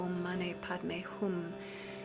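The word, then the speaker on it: ॐ मणि पद्मे हूँ: This pronunciation, Om Mane Padme Hum, is Sanskrit. Sometimes you'll hear a slight variation on that is either a Tibetan or an interesting kind of hybrid version, but this is the Sanskrit pronunciation.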